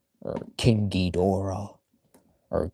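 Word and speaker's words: Ghidorah: But there is our Michelangelo as King Gera or King Gedora or King Gera or Gedra or however you pronounce it, but usually it's King Gedora as also said in the video games.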